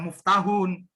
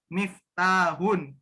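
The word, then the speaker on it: مفتاحٌ: Mif Miftah n miftahun hati-hati ya jangan jangan baca move tahun miftahun kedua akhir coba belum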